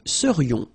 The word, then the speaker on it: serions: So then, final S not pronounced, and then this is this yon, yon. Remember, it goes in your nose, it's nasal. Yon, nous serions.